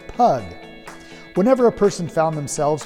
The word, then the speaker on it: pygg: than they do today during the time of the saxons pygg would be pronounced pug but as the pronunciation